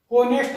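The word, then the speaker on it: honest: जैसे ऑनेस्ट lady, an ऑनेस्ट, इसमें एच क्या होता है, साइलेंट होता है, इसलिए इसको बोलते हैं एच, एन ऑनेस्ट लेडी।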